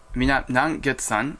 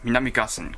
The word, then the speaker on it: Minami-Gassen: And the line between Hinode-daira and Minami-Gassen, in the video I said the Nangetsan, I was mispronounced. It is Minami-Gassen correctly. And the line between Chausu-dake and Minami-Gassen is the smoke coming out region.